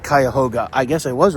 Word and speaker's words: Cuyahoga: on my way to Cleveland also it is pronounced kyoga I guess I was right I'm pretty smart